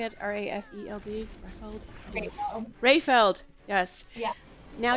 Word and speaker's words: Rafeld: Rafeld?